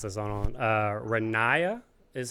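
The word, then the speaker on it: Ronaiah: it's going to take me a while to pronounce this one, Renaya is how he said it.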